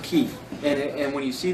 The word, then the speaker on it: Chi: like it's not like Chi though it's pronounced key and and when you